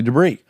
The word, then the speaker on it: Debris: debris spelled debris famously I always say debris but it's actually debris so check out Jonathan